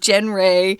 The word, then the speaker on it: genre: genre or genre or genre is because it's french and it's weird so just learn how